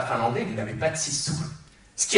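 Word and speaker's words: sisu: et tout apprendre aujourd'hui qui se dit sou ça s'écrit s i s u le sour cela fait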